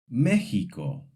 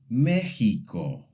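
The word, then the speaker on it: México: In some words, x sounds like a throaty H, similar to the Spanish J. For example, Mexico.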